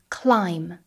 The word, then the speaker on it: climb: Watch out for words containing the combination MB. Here the B is silent. For example, climb, comb.